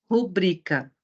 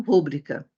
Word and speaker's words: rubrica: mas não é ela é uma paroxítona porque se pronuncia rubrica e não rúbrica vamos ver as demais